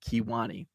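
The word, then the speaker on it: Kewanee: by kiwani wisconsin it's spelled with uh uh it's spelled k-e-w k-e-w-a-n-e-e kiwani so uh there's also a kiwani wisconsin over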